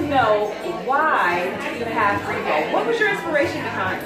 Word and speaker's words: BRIBOW: Rebo.